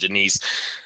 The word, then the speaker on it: Jenice: Jenice barceló excuse me her first name is pronounced Denise I explained when I